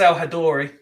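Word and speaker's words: El-Hadary: Egyptian goalkeeper as Sam al-hadary I think I'm pronouncing that right I believe it's al-hadori al-hadori then uh became the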